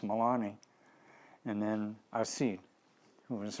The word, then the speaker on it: Melanie: these a woman named her name is spelled Melanie but it's pronounced Milani and then AED who